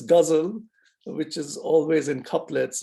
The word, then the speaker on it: ghazal: He introduced an Indian formal verse structure called ghazal, mispronounced in America as gazelle or gazelle, which is difficult for us to hear, but it's ghazal.